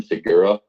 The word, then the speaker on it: Segura: Segura.